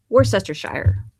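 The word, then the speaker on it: Worcestershire: it let me know what's uploaded tried to pronounce my UK County worse Esther Shire I love worship sire sauce if you didn't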